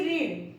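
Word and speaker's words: read: लेकिन अब आपने आंसर दिया, यहाँ पे देखो व्हाट डिड ही रीड, अब यहाँ पे मैंने क्या बोला, उसने क्या पढ़ा। लेकिन जब आप आंसर दोगे तो आप इसको प्रोनाउंसिएशन करोगे, आई रेड अ बुक, मैंने एक बुक पढ़ी।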